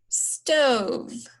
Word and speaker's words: stove: long vowel and then this is our magic e and remember when we do the magic e we put the arrow back to that long o okay and then there are not any other silent letters in this name and then the last thing is to read the word stove okay that's all you